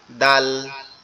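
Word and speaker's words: دال: এই জিহ্বার আগাটা সামনের উপরে দুই দাঁতের গোড়ার সঙ্গে লাগবে, লেগে উচ্চারিত হবে দাল, দাল, দাল, দাল।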